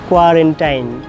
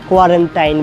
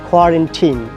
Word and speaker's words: quarantine: Like doctors, journalists, common people, they are mispronouncing this word. Quarantine. আমাকে কোয়ারেন্টাইন থাকতে হবে, doctor বলছে 14 দিন কোয়ারেন্টাইন থাকতে হবে। কোয়ারেন্টাইন বলি আমরা। Actually কোয়ারেন্টাইন বলতে কোনো ইংলিশ ওয়ার্ড নেই। It should be quarantine. Quarantine.